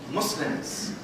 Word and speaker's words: Muslim: Muslims. Muslims. The correct pronunciation is Muslim. The word Muslim has a very negative connotation in the Arabic language. It actually means someone who oppresses or harms or does evil, to be honest with you.